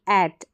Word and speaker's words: at: ये लिखा गया ए, तो एट, अट नहीं बोलेंगे इसको, एट, ए साउंड प्रोड्यूस होगा इसमें।